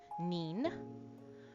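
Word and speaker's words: にん: We can say it N-I-N, neen, or we can say it J-I-N, Jean, okay?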